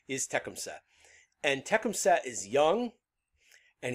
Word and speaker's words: Tecumseh: a younger leader there tekumset people call him tecumseh a lot of the time but my understanding is the correct pronunciation is techemsa and tekemset is young and he's angry and